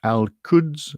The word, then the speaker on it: Al-Quds: Al-Quds. I don't know how you pronounce it.